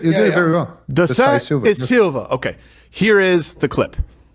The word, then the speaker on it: Da Silva: How do I pronounce it? You did it very well. Da Silva.